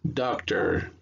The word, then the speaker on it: doctor: Entonces cuando lo leen juntos va a sonar doctor, doctor. ¿Ok? Practiquen estas varias veces hasta que puedan pronunciarlo correctamente. No confundan con el español, que es el doctor, sino doctor.